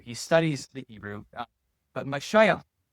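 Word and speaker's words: משיח: He studies the Hebrew, but Mashiach is is uh how you pronounce it.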